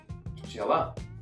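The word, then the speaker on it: пчела: Pchela.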